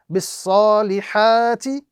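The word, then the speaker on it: بِالصَّالِحَاتِ: Bis salihati would now be pronounced bis salihat.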